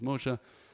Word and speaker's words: Moshe: name a Hebrew the guy's name was Moshe and he said Moshi or something I told him it was mosha and then he made